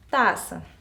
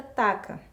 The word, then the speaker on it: taça: no início das palavras por exemplo taça se eu não tivesse cedilha aí a palavra fica taca então eu coloco a cedilha para representar o som de ss e ficar minha palavra correta taça outro exemplo caçapa Então